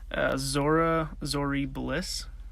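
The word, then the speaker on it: Zorii Bliss: You want to pronounce that? Zori Bliss.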